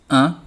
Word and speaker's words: an: AN pronounced un, as in money.